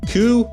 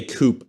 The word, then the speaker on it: coup: Yeah, it's coup, and it's spelled coup, Yeah. C-O-U-P, but it's Right. coup d'etat, which means overthrow, typically overthrow of government. And you can't say coupe either, because then you just think of a car, Right.